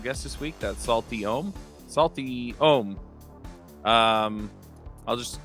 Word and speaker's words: Aom: from Thailand so uh my name is om it's kind of hard to pronounce but that's how you pronounce it so basically I am